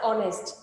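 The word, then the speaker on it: honest: উচ্চারণটা কেমন হচ্ছে? অনারেবল, আওয়ার, অনেস্ট, যার কারণে তার পূর্বে কি বসেছে?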